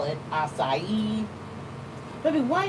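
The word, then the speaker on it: açaí: out that it's it the C has that little thing under it where it's supposed to be pronounced as an S, but the AI still are the way it's supposed to be, the way it's supposed to sound.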